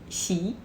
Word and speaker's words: Xi: Xi. Remember, shh and smile.